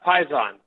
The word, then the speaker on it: Paisan: sean uh yes yes how you pronouncing the company name it's uh python python okay so like yes sir like uh like the mob python okay okay all right